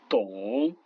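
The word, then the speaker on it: 懂: Le D qui se prononce comme un T français. Par exemple ici comprendre, tong.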